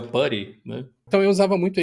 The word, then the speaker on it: PuTTY: Como normalmente a gente Ele tem um jeito certo de falar, que eu nunca falei, sempre chamei ele de Put, que achava fala. engraçado, mas é o Putty, né?